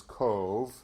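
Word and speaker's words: Cobh: is now known as cove c-o-b-h is pronounced as though it's c-o-v-e and it's from queenstown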